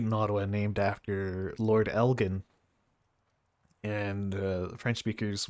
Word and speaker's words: Elgin: Ottawa named after Lord Elgin, and French speakers would often pronounce it with a soft G.